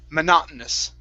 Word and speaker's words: monotonous: okay is uh we we drop the t it's monotonous monotonous monotonous yes monotonous monotonous